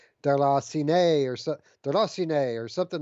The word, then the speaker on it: Déraciné: of people call it derecine it's not actually uh pronounced there's saying it's uh it's a foreign word like a french word that's pronounced like darla sinai or derosione or something